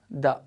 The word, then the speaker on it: the: See friends, so if it is the or the means it depends upon the next word.